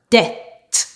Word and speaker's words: debt: Words that don't follow this rule, but the B is silent are debt, doubt, subtle.